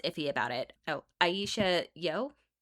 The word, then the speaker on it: Yeoh: Oh, Aisha Yo, if I'm pronouncing that correctly, it's Yeoh.